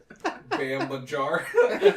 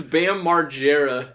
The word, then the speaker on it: Bam Margera: It's Bam Margera. Oh. You are so not a fan. You can't even pronounce his name.